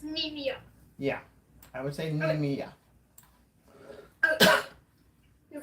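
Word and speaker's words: Nemea: too NE nimia nimia nimia okay so it's nimia yeah I would sayia your first tus is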